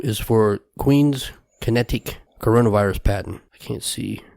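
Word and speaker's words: QinetiQ: company qi n ET IQ which is pronounced kinetic but as to accuse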